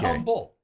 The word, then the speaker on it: Humble: Not Humble. You're saying Humble. Like, yeah, I think it's pronounced humble.